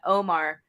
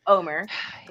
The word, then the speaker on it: Omar: beginning of the show when she's talking about omar omer as we learned his name is actually pronounced omer i said a couple weeks ago i thought